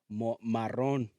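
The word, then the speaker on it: marrón: to say it is Maron is the proper way to say it Maron yes that's like Maroon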